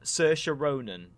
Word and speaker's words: Saoirse Ronan: In this case, in America, and it's a very simple film, but just I'm going to get a name wrong. Saoirse Ronan, I think is how you say it.